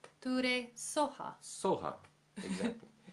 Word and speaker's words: Soha: Om Tare Tuttare TURE Swaha. TURE SOHA. SOHA, exactly. In the Tibetan traditions, their pronunciations are slightly different than Sanskrit, so slightly looser, you know. So Swaha becomes SOHA.